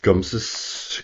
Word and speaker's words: Gumse: Uh, it sort of rhymes with nums with sort of means but or um rampy or something like that, but it's it doesn't mean that.